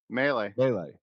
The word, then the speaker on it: Mele: I think you've told me like Melee, melee.